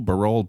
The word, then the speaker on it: Barol: I think I was doing Barol for a while, but Barol is correct.